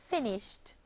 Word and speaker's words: finished: The verb finish, becomes the past tense verb finished, having two syllables.